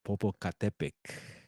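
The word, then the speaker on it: Popocatépetl: But this is webcam Volcan Popocatepec. Yes, Popocatepec. And then Atilxco, Puebla. Hopefully I pronounce it that right, but I know it's Popo there we go, Popocatepec.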